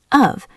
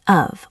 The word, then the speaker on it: of: This is pronounced with a v sound usually of. But in a sentence it becomes just a tiny of or sometimes just a.